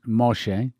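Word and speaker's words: משה: mom by the way moses in hebrew is pronounced moshe which means drawn out she put it made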